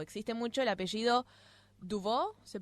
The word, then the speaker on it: Dubois: Y también en Bélgica, por ejemplo, se utiliza o existe mucho el apellido Dubois, ¿se pronuncia?